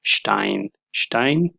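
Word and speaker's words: Stein: سره او کله چې په سر د کلمه کې راشي بیا شین تلفظ کېږي مثلا شټاین ډبرې ته وایي تیږه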